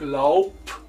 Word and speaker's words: Laub: In final position, B sounds like an P. Like Laub, leavings, Staub, dust.